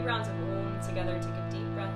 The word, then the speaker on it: Om: Let's do 3 rounds of Om together.